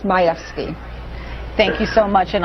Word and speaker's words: Majewski: My last name is pronounced Majewski.